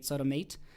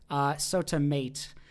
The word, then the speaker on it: SOTAmat: I think they mentioned to pronounce it like mate, maybe as an automate, SotaMate. SotaMate.